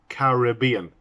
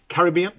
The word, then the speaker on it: Caribbean: caribbean and it's pronounced caribbean in english way i think in america they say caribbean but we say our caribbean caribbean but we say caribbean with the extra syllables there as it should be and it's one r